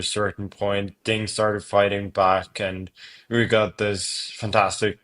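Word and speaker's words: 八: Lucky in Chinese culture because it's pronounced ba and that sounds similar to the word fa which means fortune or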